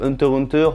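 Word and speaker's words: Hunter × Hunter: à savoir que Hunter x Hunter se dit Hunter Hunter, donc est-ce que le X se prononce?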